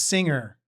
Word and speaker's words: singer: Because it's singer and it's not singer. It's a silent G, so to speak. It's not a hard. It's not completely silent. It's just soft. It's a soft G.